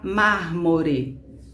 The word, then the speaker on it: mármore: temos três sílabas mármore essa palavra é proparoxítona porque a força dela está na fila na antepenúltima sílaba ou seja é é a última sílaba não é não é forte motor também não é forte é a penúltima sílaba e mar é a sílaba forte a antepenúltima então é uma proparoxítona bom então a palavra